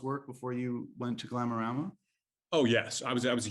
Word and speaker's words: Glamorama: of all time is Glamorama. And he goes, oh, Glamorama? And I was like, oh, I've been mispronouncing my favorite book my entire life.